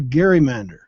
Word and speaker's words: gerrymander: odd district as a gerrymander. The hard G was soon softened to a J to produce the word gerrymandering, a political term used over and over for the past 200 years.